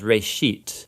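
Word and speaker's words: ראשית: of it's called genesis genesis comes from a hebrew word it's pronounced ray sheet and it just means beginning now there's a lot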